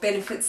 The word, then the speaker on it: Benefit: They're Real by Benefits. Sorry, that was a bad pronunciation. It's Benefit.